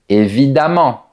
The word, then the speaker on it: évidemment: e m m e n t rime avec le mot diamant. Voilà d'autres exemples. Évidemment, récemment, différemment, violemment, et cetera. Voilà un exemple de phrase. Évidemment, je vais t'aider. En fait, ces adverbes se prononcent comme les adverbes en a m m e n t. Par exemple, constamment, suffisamment, couramment, et cetera.